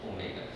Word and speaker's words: omega: This is what representation है ओमेगा. W नहीं बेटा, इसका प्रोनाउंसिएशन क्या है? ओमेगा. ओमेगा. Okay, ओमेगा.